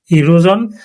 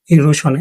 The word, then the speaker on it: erosion: শব্দটা দুইভাবে উচ্চারণ হয়, ঠিক আছে? ইরোজন বা ইরোশন।